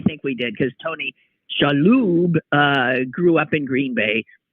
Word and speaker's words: Shalhoub: Whose name is clearly Shalhoub. But growing up, nobody in the community could be bothered to pronounce it correctly. And immigrants didn't like to speak up. So Shalhoub it was.